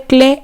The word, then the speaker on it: Klee: Acá tenemos otra obra de Paul Klee, se llama, no se dice Klee, sino que se dice Klee, porque no es inglés este apellido, en el